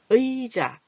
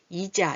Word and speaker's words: 의자: 이렇게 의자, 의사 이럴 때는 앞에서 올 때는 발음이 의자가 정확하게 잘 나요. 이자 이렇게 안 해요. 이사 이렇게 안 해요. 가끔가다 그렇게 발음하는 분도 있는데 그거는 틀린 발음.